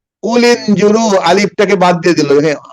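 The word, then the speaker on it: قُلِ انْظُرُوا: কে জানেন বলেন তো কুলিনজুরু এটা হামজাতুল ওয়াসল হামজাতুল ওয়াসাল অর্থাৎ এই আলিফটা এই হামজাটা উচ্চারণ হবে না সাইলেন্ট হয়ে যাবে কুলিনজুরু আলিফ টাকে বাদ দিয়ে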